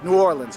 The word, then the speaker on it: New Orleans: call it New Orleans think of this way it's like new like new and then ore like what you row a boat with and then lens like a camera lens that's how you say it New Orleans and you put the emphasis on that ore okay so that's what